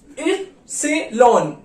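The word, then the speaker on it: Ypsilon: एंड वाई को बोलते हैं इप्सिलॉन, इप्सिलॉन, ठीक है, इप्सिलॉन।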